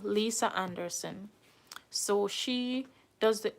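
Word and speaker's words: Liese: never too late to apply the name is Lisa it's spelled l i e s e Lisa Anderson so she does the H4 Visa process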